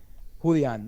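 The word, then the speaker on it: Julián: Apparently Julian Castro made a fool of himself. Is what I heard. Julian, not Julian. Julian. Julian? It's a Mexican name. It's Julian. It's not Julian.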